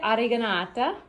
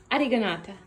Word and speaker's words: oreganata: So we have ham, the carciofi oreganata. Go ahead, say it. Did she say it right? No? So say it. Carciofi. Oreganata. Oreganata, yeah. My pronunciation isn't that different.